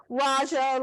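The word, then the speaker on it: Rajah: then you take the Rodger cloth how do you spell that again Raja like Maharaja it's r-a-j-a-h okay and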